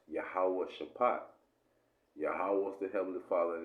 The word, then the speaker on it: Jehoshaphat: But when you actually go into the word Jehoshaphat, it's actually pronounced Yahawah Shaphat.